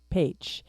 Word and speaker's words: Pécs: It's going to be in the city of Pécs, which is spelled PECS, uh, pronounce Paych And from everything that I've been studying about it, it sounds like a beautiful, beautiful city.